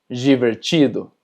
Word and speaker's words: divertido: Y cuando tenemos DI, también se pronuncia ji. Por ejemplo, divertido.